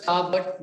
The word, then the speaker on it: starboard: That's why I said pronounced as starboard, but spelled as S-T-A-R-B-O-D, starboard. The ship becomes unstable.